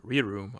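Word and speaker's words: R-Room: Our room, pronounced re-room, allows the user to operate within a room where the surgeon is not inside.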